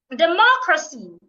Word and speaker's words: democracy: stressing the first syllable democracy democracy not democracy democracy I'm stressing the second syllable as well Geographic Geographic I'm stressing